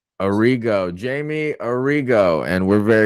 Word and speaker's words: Arrigo: your last name again it's a Rigo Arrigo Jamie Arrigo and we're